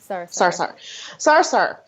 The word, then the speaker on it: Sarsahr: Am I saying it right? I always say Sarsahr. Yeah. It's Sarsahr. Sarsahr.